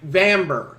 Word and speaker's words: Bamber: Warriors of up if bamber Bamber is how you say her name not vom grades bambor it's like amber but with Aviv amber and pariahs there me